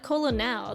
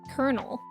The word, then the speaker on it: colonel: true in your language you actually pronounce Colonel with the L's oh and don't pronounce don't replace them with the RS well so weird because we're not just replacing it with ours we're also taking out a syllable because it's not Colonel that's that's three syllables we just say kernel which is two say walk and talk